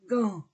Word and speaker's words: gants: trois horloges trois gants trois gants gants je ne prononce pas le S trois gants CQ murs